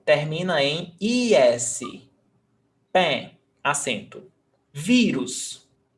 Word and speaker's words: vírus: Vírus, paroxítona, stressed syllable before last, termina em US, pé, vírus.